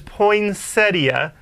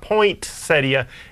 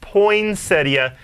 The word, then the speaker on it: poinsettia: How do you pronounce poinsettia? Oh, the correct pronunciation is poinsettia. There's no T. It's not poinsettia. It's poinsettia.